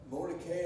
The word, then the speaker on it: Mordecai: name of mordecai and i probably don't pronounce his name uh correctly and probably not consistently but more to ki i believe is probably more accurate way of pronouncing it where canada's name came